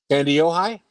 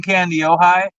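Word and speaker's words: Kandiyohi: of fun to say wow candy Ohi pretty close try it again candy Ohi yes C ohigh very good you know what's really funny about this though people who live in candy ohigh um I mean I've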